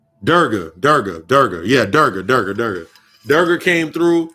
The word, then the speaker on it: Durga: It's Durja. Fuck. I can't remember the goddamn name. And that goddess just came through to me. I don't want to say her name wrong. Durga.